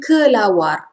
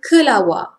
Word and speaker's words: kelawar: Formal pronunciation, kelawar, kelawar. Informal pronunciation, kelawar. R is hardly audible.